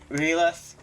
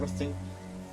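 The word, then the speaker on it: R'lyeh: Obviously, this isn't, Releth. Releth. However the fuck you say it. For a long time I called it Rethul. Literally not how you say it at all.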